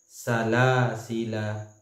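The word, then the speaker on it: سلاسلا: itu yang tertulis kemudian cara membacanya itu adalah salasila salasila la yang pada e bacaan la yang kedua yang seharusnya itu ada panjang tapi karena dikosorkan kemudian kudian menjadi satu harakat cara membacanya bacaan selanjutnya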